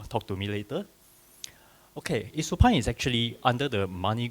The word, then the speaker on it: Isopan: So Isopan is actually, or you can pronounce it as Isupan or Isopan. It depends because in local context, a lot of people will say Isopan. But in Italy, they call it Isupan. Italy, Isupan. Yeah, this is how they pronounce it, but either way is fine.